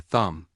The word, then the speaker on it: thumb: B is often silent after the end of a word like comb or thumb.